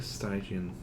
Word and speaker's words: Stygian: I keep wanting to say Stygian, and that's legitimately not how you pronounce it. If it were still Greek, it would be Stygian or Latin, and we pronounce it Stygian. It's not Stygian. It's just that there's a particular video game that uses the phrase. They mispronounce it as Stygian, and it's stuck in my head as that way.